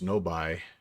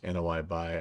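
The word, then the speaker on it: Noi Bai: we're going is apparently noi Bay and it's it's pronounced or it's spelled n-o-i-b-a-i so I thought maybe it was no buy but uh looks like it is no I buy I'm I'm kind of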